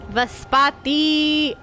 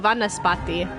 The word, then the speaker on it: Vanaspati: Vaspati. Oh, Vanaspati, not Vaspati.